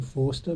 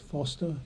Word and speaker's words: Forster: Keep saying Forster, but it's actually pronounced Foster, even though it's spelt Forster.